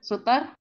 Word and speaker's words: suitor: Jadi sweater itu ya, sweater bacanya.